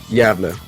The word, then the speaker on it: Gävle: Gävle.